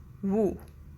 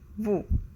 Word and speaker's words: vous: But in French, there are two words, tu and vous. Tu and vous.